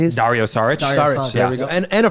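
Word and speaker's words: Šarić: Saric.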